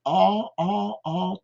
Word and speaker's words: are: We are, avec ce R particulier. Are, ok? We are, on pourrait dire nous a, hein, parce que are, c'est également le nom de la lettre R en anglais.